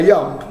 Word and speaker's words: yump: The Finns were the best, and they couldn't pronounce the J, so they'd call it a yump, not a jump.